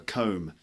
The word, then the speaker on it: comb: hair like that a comb okay see OMB but the B is silent I'm just combing my